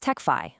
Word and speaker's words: Tecfy: And that is where Techfy ERP comes in. And by way, it's pronounced Techfy, like simplify.